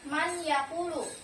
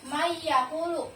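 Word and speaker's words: مَن يَقُول: Akan tetapi dibacanya bukan man yakulu, melainkan mayakulu karena nun sukunnya dimasukkan ke huruf ya.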